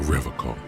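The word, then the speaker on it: Revachol: stay strong for revical he pronounces a rivercon with a hard k unlike other people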